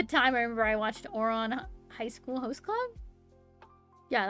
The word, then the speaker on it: Ouran: I watched at the time I remember I watched Ouran High School Host Club.